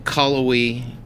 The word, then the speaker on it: Cullowhee: So you came from Cullowhee. Did I pronounce that right? Cullowhee, North Carolina.